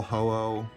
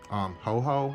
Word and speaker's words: Ho-Oh: But in the last video, when I was younger, I used to call Ho-Oh Ho-Ho, and I think I